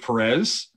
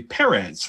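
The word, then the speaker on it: Pérez: knew him as george perez it wasn't until i met him that i found out that it's actually perez like that's how you say it like paris france of sorts yeah it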